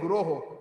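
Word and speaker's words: guroḥ: It is plural. When we sing the Mangalarti, it is not Vande Guru Sri Charnarvindam. Some of us are mispronouncing. It is Vande Guroho.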